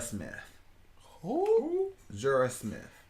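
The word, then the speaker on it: Jorja: And then Jorah Smith. Who? Jorah Smith. J? G? Jorah? How do you spell that?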